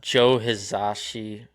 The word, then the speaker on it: Joe Hisaishi: Let me see cuz yeah Yeah, if you have Joe Hisaishi Oh, yeah. I'm probably pronouncing that wrong.